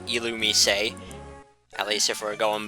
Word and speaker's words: Illumise: illumise a which is a weird way to pronounce that pokemons name but it is called alumi say at least if we're going by the anime